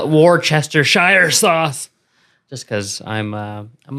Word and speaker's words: Worcestershire: Just, Wash your sister sauce. I call it Worcestershire sauce, just because I'm a little crazy.